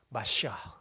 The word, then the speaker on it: 메시아: 메시아. 헬라어로는 크리스토스. 히브리어는 메시아. 원래 메시아도 우리 한국식 표현, 읽기예요. 예, 원래 히브리 발음으로 정확하게 하면 이겁니다. 마시아.